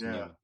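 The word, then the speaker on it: Nyman: that line was Linus Newman. Spelled N-Y-M-A-N, but pronounced Newman.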